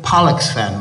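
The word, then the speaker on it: Pollexfen: Elizabeth Pollocksfen was her name. We've got to pronounce that word very carefully. Pollux, P-O-L-L, in case you think it's something else.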